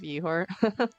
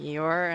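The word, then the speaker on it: Ihor: I like your spelling of ehore. It's spelled uh I H O R.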